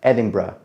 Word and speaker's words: Edinburgh: And yes, I said it right, Edinburgh. And if you say it otherwise, some people will get mad, just be aware.